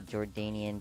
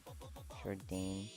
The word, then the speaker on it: Jordanian: Um, I hate it when people pronounce it like Jordane. Did I Is that not how did I pronounce it correct?